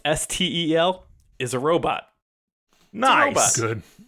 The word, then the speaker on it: Stel: Another fun one, Steel, pronounced Stel, is a robot.